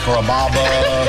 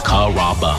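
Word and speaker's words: Carrabba: You know, Kaba, Kamaba, Kamba. It's a really easy name to pronounce. It's Kaba.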